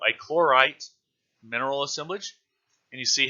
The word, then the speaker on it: chlorite: greenish color there represents a clora tight a chlorite tight I don't know why I added the extra syllable I chlorite mineral assemblage and you